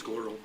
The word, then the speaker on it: GLERL: And the acronym for that, I think I've heard people say GLERL. It's GLERL. GLERL kind of rhymes with other words I can think of.